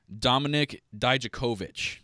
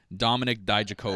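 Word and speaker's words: Dominik Dijakovic: Last week, I couldn't pronounce the name Dominic Dijakovic. That's exactly how you say it, by the way. Dominic Dijakovic.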